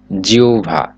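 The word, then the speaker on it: জিহ্বা: অর্থে ব্যবহৃত হয়েছে ক্ষুদ্র জিহবা শব্দের উচ্চারণ হচ্ছে জিউভা ভারত ভারত খ্যাত আপনার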